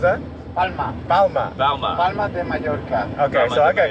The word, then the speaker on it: Mallorca: Yeah, 2 L's and yay. Bayo de Mallorca. Oh, what was that? Palma. Palma. Palma de Mallorca.